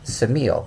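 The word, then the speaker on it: Ksamil: adjoins it which is called samil which is actually spelled with a K samil is a huge Retreat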